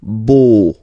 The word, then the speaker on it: beau: So remember this E-A-U combination of vowels only give you the sound O, beau, okay, le beau-père.